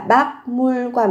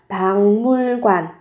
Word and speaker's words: 박물관: 박물관 bảo tàng, các bạn cần chú ý về cách phát âm, biến âm là thành không phải là bác mùi quan mà sẽ là bằng mùi quan.